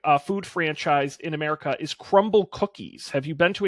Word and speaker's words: Crumbl: Crumble Cookies. Yeah, it's spelled like a startup. It's missing some vowels. BL. Oh, I see. Yeah. Just one. Just missing one vowel.